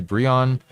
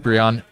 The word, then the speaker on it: Brion: I feel like, I'm not sure if it's Brian or Brion here. It looks like actually this person in chat is saying the pronunciation is likely Brion. Okay, got it. Okay. So we'll call it Brion.